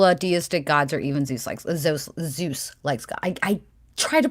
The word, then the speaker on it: Zeus: Okay, you don't rule out deistic gods or even Zeus likes God. I try to pronounce it like you, Allie, and my mouth just doesn't fucking do it. It's like a DZ sound, like Zeus.